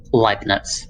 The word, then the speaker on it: Leibniz: That's how you pronounce it, right? Leibniz? Leibniz. What was that? Leibniz. It's German. Leibniz.